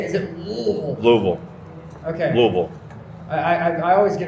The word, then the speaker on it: Louisville: Louisville. Okay. Louisville. I always get it wrong. No, it's like the one pronunciation I can't nail.